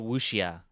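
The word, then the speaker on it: wuxia: movies made fun of the uh the the wushia i don't know if i'm pronouncing it right but it's spelled w-u-x-i-a and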